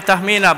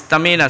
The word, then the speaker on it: Tahmina: I used to pronounce her name Tahmina, but then she said no, it's Tahmina.